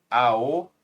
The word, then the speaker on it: ao: Ao, roupa. Se pronuncia ao.